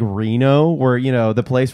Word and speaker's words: Reno: usually i think the the correct way to pronounce reno is re no and um some people